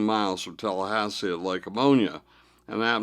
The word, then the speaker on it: Lake Ammonia: from Tallahassee at Lake Ammonia, an apt name for that truly poisonous-looking lake if I ever heard one. It was indeed pronounced ammonia, but we sometimes said pneumonia.